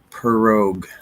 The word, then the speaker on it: prorogue: So here's the official pronunciation of this word, prorogue, or like like a cat, rogue, like a rogue wave, or rogue for cheese, prorogue.